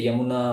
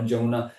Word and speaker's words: Yamuna: So similarly, you have to say Yamuna or Jamuna. So he mispronounced.